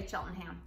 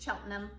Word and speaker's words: Cheltenham: them it's spelled like Cheltenham don't say Chillingham it's Cheltenham and then you've heard